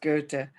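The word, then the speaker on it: Goethe: to the german is spelled ghost but it's pronounced go to the the philosopher he said until one is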